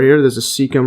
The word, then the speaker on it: cecum: And then the appendix, then also called vermix or vermiform process, is a finger-like blind-ended tube connected to the cecum. See the pronunciation here?